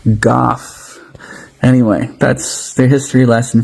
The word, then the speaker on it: Gough: We're g u gh's [cough and clears throat] rhymes with cough goth.